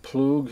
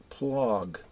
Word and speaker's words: Ploog: I don't know, some people pronounce it Ploog, and the others pronounce it Plog. It's probably Ploog.